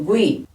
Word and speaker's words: linguiça: No gui? Eu pronuncio este U, ó, gui. Primeiro eu falo bem forte, gui. Mas qual que é mais forte? Mais forte é o I, porque eu falo gui.